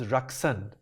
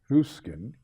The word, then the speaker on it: Ruskin: one of your land ladies which was rxan my name has been mispronounced and misused very often because my land lady in Mr H's first rkin Ruskin and my landl lady in derun who was